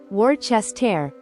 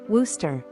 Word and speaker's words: Worcester: New England name Worcester if you're thinking War chest tear you're in for a surprise the locals actually say it as Wooster yes Wooster it's almost like the middle part of the word disappears New England has a lot of names like this where letters seem to vanish saying Wooster shows you